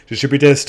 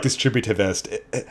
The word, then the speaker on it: Distributist: Chesterton, and I needed a D word, and Distributist was a really good choice. So I've heard lots of mispronunciations, but I really like Distributivist.